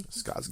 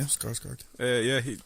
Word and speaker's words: Skarsgård: Skarsgård. Yeah, Skarsgård.